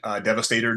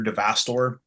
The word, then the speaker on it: Devastator: the kid that was my neighbor that called Devastator Devastor. Yes. the kid that legendary everything. Yeah, he mispronounced all this stuff.